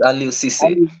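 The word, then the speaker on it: Aliou Cissé: I cannot pronounce the other name. Yeah? It's Aliou Cisse.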